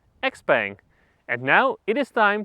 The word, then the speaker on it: XPENG: review of this car there was some doubt on how to pronounce this brand or well combination of letters but the word is out because here in Europe we can just say xang and now it is